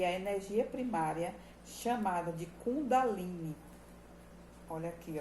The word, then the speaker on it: Kundalini: A Kundalini, pronuncia-se Kundalini, é uma palavra sânscrita feminina que designa a